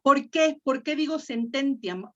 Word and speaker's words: sententiam: ¿Por qué acentúo esta? Fíjate, esta, aquí, entiam. Porque la I y la A no hacen diptongo. No hacen diptongo, sí. Entonces, la sílaba ti es la penúltima y no tiene la marca de larga. Entonces hace sententiam. Sí, La sílaba tónica está en ten.